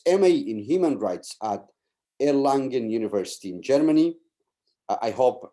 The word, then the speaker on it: Erlangen: Law, who holds MA in Human Rights at Erlangen University in Germany. I hope I've said it right. Is that Erlangen?